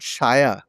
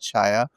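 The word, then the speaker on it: saia: And so and then I came across this word spelled Saya, but I think they also pronounce it shaya, and it meant skirt.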